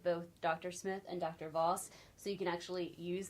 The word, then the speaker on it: Voss: Okay, so I'm Randal Voss, R-A-N-D-A-L, one L, V-O-S-S.